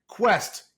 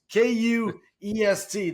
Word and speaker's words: Kuest: That's right, Kuest. Kuest. That's how it's pronounced.